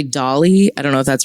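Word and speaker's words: DALL-E: I'm going to say Dolly. I don't know if that's right, but that's how I'm going to pronounce it. Wall-E. It's like Wall-E, but with a D. So, it's Dolly, right?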